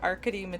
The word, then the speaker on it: Arkady: So it is, like I said, it's a memory called Empire by Arkady Martine. I just learned that it was pronounced Arkady today.